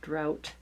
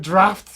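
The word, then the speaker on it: draught: Then the cold drifting drought that is in it's English. I'm sorry. Oh gosh. That's the word draft. We spell it like that.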